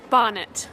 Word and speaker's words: Barnet: and rosianna house house Barnet pronounced bonnet yeah like bonnet like the thing you wear on your heads we dominated bonnets we